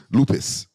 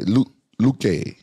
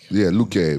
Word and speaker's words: Luque: Vicente Lupus. Lupus? Did I say his name right? Luque. How do you say it, Giga? Vicente Luque. Luque versus Ian Gary.